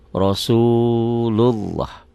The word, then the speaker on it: Rasulullah: Rasulullah. Pertanyaannya, lafaz Allah ini dibaca tipis apa tebal? Tebal Pak Ali. Kenapa? Karena sebelumnya baris atas nih, Rasulullah.